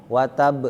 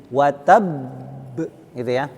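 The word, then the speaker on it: وتب: Jadi jangan langsung watab. Banyak yang baca seperti itu. Tabbat yada abi lahabin watab. Itu kurang tepat Jadi bacanya itu dipantulkan dulu, ditekan, kemudian baru dipantulkan. Karena huruf akhirnya adalah huruf bertasydid. Watab, gitu Watab. Jadi jangan sekedar watab, beda tuh, watab, beda. Kalau yang kedua nggak apa-apa,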